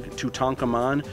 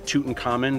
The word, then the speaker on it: Tutankhamun: so I thought the coffin mask of king tutankhamon or Tutankhamun depending on how you want to pronounce it I thought that would be really